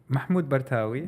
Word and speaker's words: Mahmoud Bartawi: Mahmud BWI right yes how was the the pronunciation of your name Mahmud BWI yeah so you did well good job thank